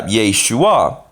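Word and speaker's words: ישוע: Jesus is written yeah Yeshua so he pretty much just pronounces sha and then a and a y unite like J like J and then you have the shoe Yeshua you know so it's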